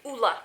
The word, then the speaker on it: Ole: je l'ai rencontré, mais ça se prononce pas Ole Henriksen, c'est Ola que ça se prononce.